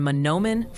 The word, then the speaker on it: Mahnomen: It's Juneau for Juneau County and Mahnomen for Mahnomen.